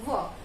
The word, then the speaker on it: were: कई बच्चे, कई लोग इसको वियर बोलते हैं, ये वियर नहीं है, इट इज वर्ब, WERE वर्ब, जिसमें से